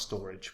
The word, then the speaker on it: Storj: channel guys so Storage storage meant to be pronounced storage but uh I like